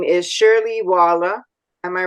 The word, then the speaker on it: Shirley Waller: a really special guest and her name is Shirley Walla am I right is that the way you pronounce it very good yes that's correct and